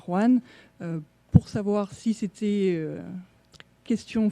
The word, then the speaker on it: Wuhan: Alors, vous prononcez Wuhan comme les gens du Roubaix, c'est bien, hein, Wuhan. Voilà, c'est Wuhan, hein, capitale du Roubaix.